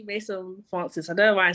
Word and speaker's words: Maison Francis: This, I don't know how to pronounce it, but it's Maison Français. Maison Français. Is it Français? Maison Français. Français. I have no idea. I'm messing around. Yeah, it's actually Maison Francis.